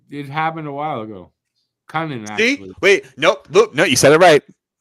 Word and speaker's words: Kunin: Kunin, actually.